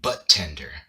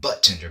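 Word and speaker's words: budtender: Like usually when a D comes before a T, the D is silent.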